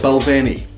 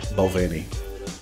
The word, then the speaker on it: Balvenie: Balvenie, or as they would have you pronounce it, the Balvenie. But really, Balvenie's fine. Just as long as it's not Balvenie. Benromach, or Benromach.